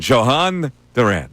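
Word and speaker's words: Jhoan Duran: So, that's the way we're gonna pronounce it from now on. Johan Duran.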